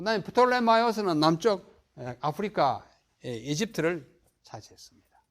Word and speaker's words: 프톨레마이오스: 이건 영어로는 이제 P 발음하지 않잖아요. 탈러미 이렇게 발음합니다. 그러나 이게 영국 사람, 미국 사람 아니니까 프톨레마이오스가 원래 이름이에요. P를 발음하는 것이 맞습니다.